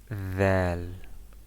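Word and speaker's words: ذال: We make our tongue out of our mouth and say like the picture: dhal, dhal, dhal.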